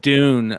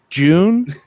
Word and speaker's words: Dune: Like the name Dune of the movie and the thing. How do you say that? June?